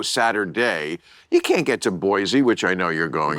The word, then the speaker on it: Boise: You can't get to Boise, which I know you're going to. Boise. Boise, yeah, not yeah. Boise. Don't say it like that.